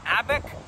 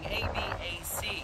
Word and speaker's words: ABaC: three michelin star restaurant abec before i understood how to pronounce it i was saying a b a c capital c at the end lowercase a i don't know but it's